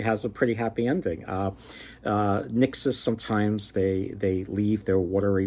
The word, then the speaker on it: nixes: spirits there are called nixes. Nixes, or sometimes they're pronounced nixies, but according to this one book, they're referred to as nixes.